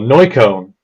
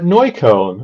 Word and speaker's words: Neukölln: I was like, "Neukölln," and they're like, "Ah, Neukölln." I was like, Yeah, there. right. So if I don't really pronounce the K, you literally have no idea where I live.